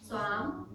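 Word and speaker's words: स्वाम्: Prakritim, Prakritim then swam swam, long A. swam Yes.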